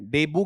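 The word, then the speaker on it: debut: डेब्यू की spelling क्या होती है? डी ई बी यू टी। ठीक है? और टी क्या रहेगा? साइलेंट। डेब्यू की डेब्यू डेब्यू रहेगा।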